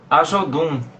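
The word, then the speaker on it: Ajodun: Quanto ao show, a Jodum, O pronunciei show correto? Ajodum. Isso, correto.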